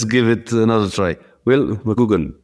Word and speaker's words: McGugan: I am Pauline Pup, an infoq editor and I have in front of me will mug if I pronounce it correctly. Not quite. It's Mcugan. It's like double O.